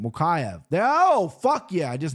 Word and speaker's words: Mokaev: I can't pronounce this guy's last name. Mokaev.